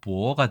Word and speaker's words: 博: 부나 포가 되고 실제로네 중국어 발음은 박이 아니라 보어가 되기 때문에 이것은네음을 나타낸다고도 할 수